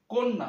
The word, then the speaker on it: কন্যা: কন্যা উচ্চারণটা হবে এই ক এর সাথে যে অটা যুক্ত হচ্ছে সেটা হবে ও এর মত যেমন উচ্চারণটা হবে কন্যা